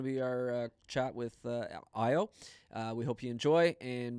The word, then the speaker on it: Ayo: Again, my name is Ayo. It's pronounced as Ayo.